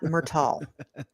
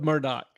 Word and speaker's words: Murdaugh: same courtesy well it's definitely not murtal I guarantee you that one murdal all right we'll go with Murdoch thank you just just